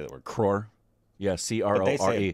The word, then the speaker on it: crore: Crore. Yeah, CRORE. They say it better. They always crore. Of course, because they have sounds that we don't make, and your mom has sounds we don't make as well.